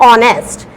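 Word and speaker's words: honest: यहां हम इसको बोलते हैं आर, यहां पर एच जो है वो साइलेंट रहता है, तो यहां हम इसको बोलते हैं आर। इसको बोलते हैं ऑनरेबल और इसको बोलते हैं ऑनेस्ट। तो यहाँ पर हम एच को प्रोनाउंस नहीं करेंगे, यहाँ पर हम एच को प्रोनाउंस करते हैं लेकिन यहाँ नहीं करते।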